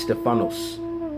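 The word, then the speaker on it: στέφανος: Now, when you go into that word masteries in the Greek, that word is pronounced Stephanos.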